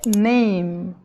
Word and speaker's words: name: então por exemplo aqui esse e não se fala a pronúncia é name acabou no m nessa outra